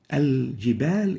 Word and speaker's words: الجبال: Directly they have the alif followed by the jim as if there is no lam. الجبال. But this is wrong. Al-jibal is the right way of pronouncing it. It's like this. الجبال. Al-jibal. So we should not say al-jibal. We should not eliminate the lam.